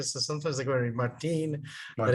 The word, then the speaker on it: Martin: I live in Costa Rica, so sometimes I go to Martin.